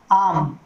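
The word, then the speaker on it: arm: देखिए पहला है आम, इसका इस प्रकार से फोनेटिक सिंबल होगा, क्योंकि रे साउंड को हम यदि उसके बाद वाउल साउंड नहीं आती है तो हम उसको रे को प्रोनाउंस नहीं करते हैं।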